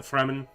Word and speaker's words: Fremen: and also the fremen here i guess it could also be the free man but i believe it's actually pronounced the fremen um i am gonna